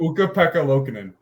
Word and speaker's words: Ukko-Pekka Luukkonen: Ukko-Pekka Luukkonen.